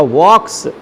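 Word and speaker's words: walks: अ postman, answer हो जाएगा अ postman, अब वॉक है, डज लगा है और यहाँ पर वॉक है तो बन जाएगा वॉक्स, एल साइलेंट है यहाँ पर।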